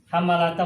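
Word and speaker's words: حَمَّالَةَ: Hammalata mudhof, al-hatabi mudhof ilaih. Ya. Al-hatabi kenapa kasrah? Karena dia mudhof ilaih. Nah, yang kita ingin bahas ini hammalata. Kenapa hammalata ini fathah? Hammalata.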